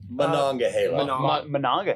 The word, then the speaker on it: Monongahela: Is it Monongahela, or how do you pronounce it? Monongahela.